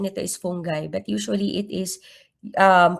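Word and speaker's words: fungi: So, usually ang correct pronunciation nito is fungai but usually it is um pronounced as funji.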